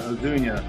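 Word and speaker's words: Ozuna: from the Braves going deep batting fifth Dunya odunia that's how it's pronounced uh Rayleigh really love the call from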